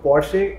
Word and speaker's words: Porsche: या rather उसका correct pronunciation क्या है? Porsche. Porsche. क्योंकि काफी लोग Porsche, Porsche. So Porsche is the correct pronunciation.